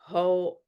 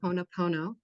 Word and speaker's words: Ho'oponopono: practitioners, so I want to understand the certified Ho'oponopono. Yeah, say that 10 times fast, eh? I know. It's it's What a is that? Ho'opono. Yeah. First of all, please pronounce it Ho'oponopono.